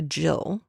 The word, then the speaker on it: gill: you have drunk a Jill first off it is spelled G I ll Gill but it's a Jill it is another word